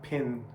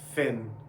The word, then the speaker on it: Finn: um finn and jake now it's an f in english it's not pin it's finn okay since we're doing conversation